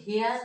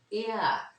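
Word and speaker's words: heir: এখানে আমি এইচ ই আই আর, এটা কিন্তু হেয়ার না, এয়ার, এয়ার, এই উচ্চারণটা হয়েছে, এই উচ্চারণ, এই উচ্চারণ হয়েছে এ।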